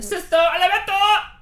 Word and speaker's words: Sesto Elemento: Sesto Elemento!